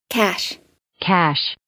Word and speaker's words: cache: paid ads gunslingers cash a/c ACH e is pronounced like this cash cash CA c h ET on the other hand